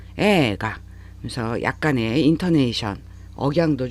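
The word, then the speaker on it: 映画: 그래서 에이가 딱딱 끊어서 발음하실 일이 아니라 에를 길게 발음하셔야 돼요. 에가.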